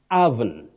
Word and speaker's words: oven: You don't pronounce it the way it is spelled. You say oven, oven. The O at the beginning takes the mid-central sound oven.